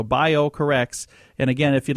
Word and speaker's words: BioCorRx: the company is called bio corrects and I'm going to spell that for you because it's spelled a little different it's B IO c o r and then RX like prescription so bio corrects and again if you'd